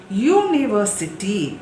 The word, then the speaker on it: university: U is a consonant sound.